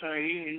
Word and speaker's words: Ayin: And he says, Ayin, pronounced Ayin with a slight nasal twang, which means the eye, referring to the eye of Shiva, said to be atrophied into the pineal gland.